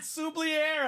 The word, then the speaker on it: Xavier: the Chiefs Xavier worthy oh look at that suier I pronounced it properly what's up Tyler oh that's